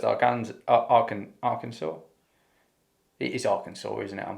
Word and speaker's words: Arkansas: daughter of southwest afghans arkhan arkansas it is arkansas isn't it i'm pronouncing that right i've just listened to the